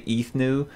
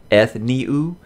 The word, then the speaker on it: Ethniu: look when i read this character i say ethno but i know even jim dropped in the comments of my last video and said it's pronounced ethniu so if i keep slipping back to saying